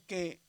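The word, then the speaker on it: καί: Aquí tenemos un diptongo y dijimos que cuando hay una alfa y una yota se dice como e. Aquí la palabra es que, pero hay muchas personas que lo pronuncian como kai porque ya se les quedó, ¿verdad? Cualquiera de las dos maneras está bien dicho, nada más que según la gramática del gioco moderno es que y por ejemplo dice Neo y Daniel, ¿verdad?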